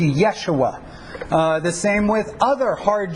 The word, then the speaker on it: Yeshua: It would have a Y sound, so it would be much closer to Yeshua.